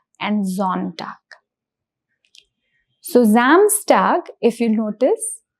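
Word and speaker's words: Sonntag: So it is zamstag and similarly the pronunciation of s o becomes z which is zontag. So it is not s it is z.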